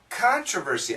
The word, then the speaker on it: controversy: American pronunciation, controversy. Controversy. Controversy. It's a controversy. Sometimes in the UK they say controversy. Controversy. Controversy. But nowadays, my understanding is a lot of British people, especially the younger British people, also say controversy.